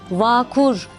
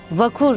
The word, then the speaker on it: vakur: bir kelime var vakur vakur kelimesinde de ağ sesi uzatılmaz bakur değil vakur şeklinde kısa telaffuz etmeliyiz bakınız Cahit Sıtkı Tarancı'nın